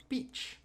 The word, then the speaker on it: peach: peach get that pronunciation peach peach yeah so this sound you're pronouncing this kind of like with a it's it's an affricate sound which means you're going to have kind of a t attached okay good gotcha is